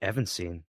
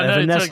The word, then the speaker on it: Evanescence: Evanscene. What? Oh, no, Evanescence.